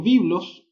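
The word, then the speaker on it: βίβλος: Biblia se llama o se pronuncia en el griego biblos y la Biblia en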